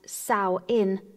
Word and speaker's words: Samhain: the witch's new year samhain pronounced sau in translates to summer's end